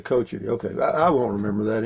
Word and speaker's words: Cochiti: pronounced but it's actually pronounced Cochiti okay coach it okay I won't remember